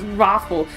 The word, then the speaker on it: ROFL: It's not ROFL, it's Raffle. It actually is.